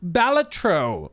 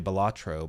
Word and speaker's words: Balatro: You can add Balatro makeup, which, yes, apparently is the way you pronounce it. I always wanted to say Balatro, but apparently it's Balatro.